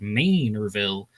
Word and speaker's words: Manorville: I was always saying Manorville, but somebody from Long Island wrote into my channel saying that, it's like, hey, Long Island commuter here. We pronounce it Manorville.